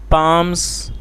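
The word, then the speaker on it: palm: कहानी का टाइटल है पाम्स विदाउट हेयर। क्या मतलब हुआ दोस्तों? पाम का मतलब होता है हथेली, जिसमें एल साइलेंट है तो उसको पाम पढ़ा जाता है, और ये प्लूरल है पाम्स।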